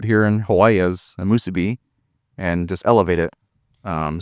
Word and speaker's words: musubi: Oh my goodness, those the sauce you put on that, you know, the fried spam musubi, did I say it right?